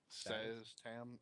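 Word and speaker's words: Szass Tam: Alistair Blackcloak and Saz Tam. You want to keep them away from that, guys. Big time. Saztan? Saz Tam. It's hard to pronounce his name.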